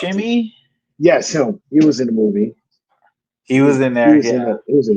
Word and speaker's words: Buscemi: Steve, I Steve can't pronounce it. Buscemi, Yes, him.